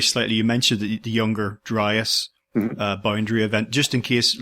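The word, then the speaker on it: Dryas: to rewind very slightly you mentioned the younger driest boundary event just in case listeners don't know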